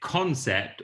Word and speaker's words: CNCPT: question i have is the name is it concept or cn how do you like it pronounced uh concept thank god yeah yeah